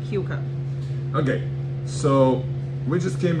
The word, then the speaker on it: Keuka: Yep, and it's pronounced Keuka, not Kaka, not Kuka, Keuka.